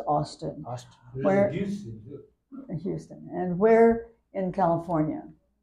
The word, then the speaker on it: Austin: in California okay where in Texas in Houston Austin it's pronounced Austin Houston and where in California uh I have